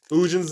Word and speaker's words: Ugin: Ugin's the Inevitables. That's seriously how you pronounce it.